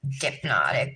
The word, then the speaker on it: Dipnotic: her own website and it's a play on like you know hypnotic dip natic but it's spelled dip like